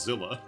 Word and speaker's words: Seela: Level 46 to 100 Seela, pronounced as Zilla.